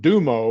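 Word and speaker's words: gtummo: Um, I I learned the ability to slow my heart rate and respiration and also learned the art of dumo or it's spelled gtum m o actually which is the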